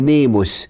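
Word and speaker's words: νόμος: الناموس كلمه الناموس دي كلمه يونانيه تتنطق باليوناني نيموس نيموس نيموس ونيمو يعني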